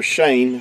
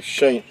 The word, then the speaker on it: shin: W, is actually a Shin, or Shane, how you would pronounce the letter itself. In ancient Hebrew, it would be more pronounced like a Shane than Shin is how it's pronounced in modern Hebrew.